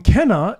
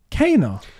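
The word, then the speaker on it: Kena: What do you think about Ember Labs, the guys who made Kenna Bridge of Spirits, saying Kenna is pronounced Kana?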